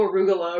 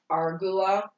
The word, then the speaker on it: arugula: it was she was like you said no arugula arugula is lettuce what did you think it